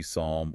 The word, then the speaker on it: psalm: I mean, we see the exact same hardware failure with the Greek PS combination, words like psychology, psalm, or pseudo. Oh, yes. The P is totally silent for us.